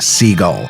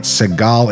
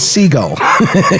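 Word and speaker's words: Sigall: little later as well and yes it is pronounced seagull i did ask her personally i always felt weird i was like s-i-g-a-l-l i was like is it seagal it can't be seagull and she said no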